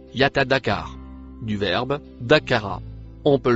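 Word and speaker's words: يتذكر: Le mot en rouge se prononce Yatadakar.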